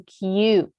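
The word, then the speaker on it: queue: line waiting for something it's a q see how it's spelled q-u-e-u-e-q okay good number fourteen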